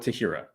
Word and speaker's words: Tahira: love it is it is it Tahira we'll go with we'll go with Tahira I wanted to say Tyra but I think I'm missing a syllable there so uh so your